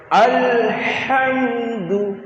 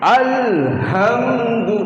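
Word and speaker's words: الحمد: আলাস সালা হাইয়া আলাল ফালাহ হাইয়া আলাল ফালাহ আলহামদু আলহামদু আর যদি বলি আলহামদু তাহলে ওই হাটা এইখান থেকে ছাতির থেকে হচ্ছে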